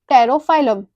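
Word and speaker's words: Pterophyllum: तेरा इज फॉर टेरोफाइलम, यहाँ पर बी साइलेंट है।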